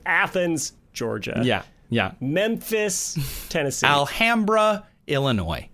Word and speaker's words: Alhambra: Alhambra, Illinois, which is pronounced Alhambra, not Alhambra.